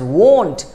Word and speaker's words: won't: देखिए there is a difference in वोंट, लेट me type it here again, there is वोंट एंड वांट, right, दोनों में difference है. इसको pronounce कीजिए वोंट and this is वांट. A bit difference, won't, want.